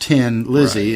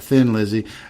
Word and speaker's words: Thin Lizzy: Lizzie thi n still pronounced tin Lizzie and not Thin Lizzy tin Lizzie is also an old name for a Ford Model T oh no that I didn't know I had no idea about that and I didn't know it was pronounced 10 until you told me that right I always assumed it was thin and I remember reading